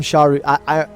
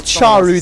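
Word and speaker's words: Czaru: Look at the itemization coming out from Sharu. My chat is saying the CZ is pronounced as a CH. So yeah, that's someone else's. So we'll go with Charu then, I suppose.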